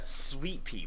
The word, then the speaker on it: Suite-Pee: more question hold on Sweet Pea but it's spelled s-u-i-t-e ah like like us like a girl that comes to your sweet wait and is it p-e-e or p this is not p-e-a oh wow it's it's